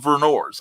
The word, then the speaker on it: Vernors: thank you i appreciate that that's how we pronounce the burners burn oh he said vernors okay verners okay thank you eric it's about